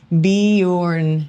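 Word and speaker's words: Bjorn: name is Bejorn and the J makes the Y sound. I said it without even reading that part. Beorn is how you pronounce it. That was good in Scandinavian.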